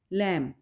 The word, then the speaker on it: lamb: Such as द बी इन लैम, यानी वैसे तो स्पेल होंगे इसके LAMB, लेकिन जब हम प्रोनाउंस करेंगे, लिखा जा रहा है, बी लिखा है हमने, लेकिन जब हम प्रोनाउंस करेंगे तो क्या बोलेंगे? लैम, लैम। ठीक है, बी साइलेंट होगा, बी को हम बोलेंगे नहीं।